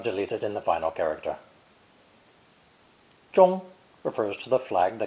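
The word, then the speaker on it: 中: center or middle and is pronounced first tone most people recognize it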